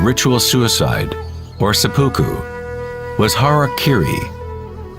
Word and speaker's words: harakiri: suicide or seppuku was harakiri was often mispronounced as Harry Cary it means to impale